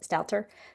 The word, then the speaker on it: Megan Stalter: Megan Stalt Stalter, I believe is how you say it. Stalter.